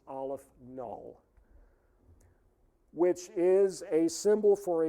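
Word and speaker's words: aleph-null: aleph the subscript is zero and that is pronounced aleph null which is a symbol for a certain level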